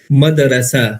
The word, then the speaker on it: مدرسہ: مدرسہ. یعنی دال پہ جزم ہے، صحیح جو اس کا